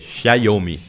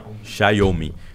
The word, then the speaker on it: Xiaomi: da Huawei e da tem que aprender a pronunciar xiaomi xiaomi né porque o bru é como se fosse um tchau em italiano aerm é e me